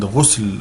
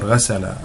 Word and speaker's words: ghusl: We have asal and ghusl or ghasala or ghasala, asal or ghasal. And this word can be pronounced in 2 different ways, ghasal or ghusl.